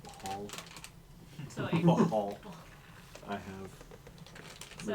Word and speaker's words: Bhaal: I believe it's pronounced Bahal.